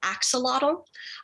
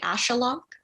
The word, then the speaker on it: axolotl: than i did so most english speakers pronounce it axolotl i found out a few months after the book came out that a more accurate pronoun pronunciation would be ashalok um so ashaloks were